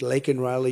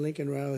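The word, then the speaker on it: Laken Riley: months of prodding him Biden couldn't pronounce her name he said he said Lincoln Lincoln Riley and Lincoln Riley is the football coach the coach and uh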